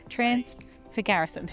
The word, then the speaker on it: Transfăgărășan: of the transfer garrison, which I had been saying wrong all that time, but seeing it on the um Apple the the CarPlay screen for the last couple hours, I um I know how to say it now. Transfor trans for garrison.